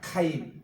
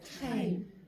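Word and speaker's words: חיים: 카임. 카임 이제 보통 하임이라고 이렇게 봤는데 여기 키역 발음이 있어요. 그러니까 그냥 하임이라 하지 마시고 카임이라고 이렇게 하세요. 여기 목젖이 좀 떨리는 소리입니다.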